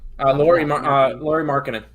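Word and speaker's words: Lauri Markkanen: Laurie Markkinen.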